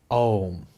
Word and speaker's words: om: powers when pronounced correctly om has four syllables in it and it is pronounced om the first syllable is